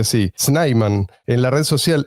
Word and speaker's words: Snyman: Hoy está con nosotros el señor Gabi y se pronuncia así, Sniman en la red social X.